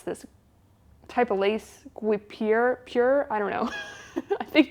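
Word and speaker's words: guipure: I would check calms you pronounce it though G pure okay very off all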